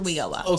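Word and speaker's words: WIOA: We call it WEOA.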